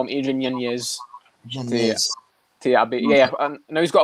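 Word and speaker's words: Yáñez: Apparently, it's Yanez. That's how you say the name. He's just said this recently. That's how you say it. So I'm going to respect him. I'll call him Adrian Yanez.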